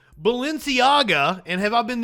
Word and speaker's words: Balenciaga: if you wanted like Balenciaga and have I been have I been saying it right have I I think I called it Valencia or some the entire time I don't know the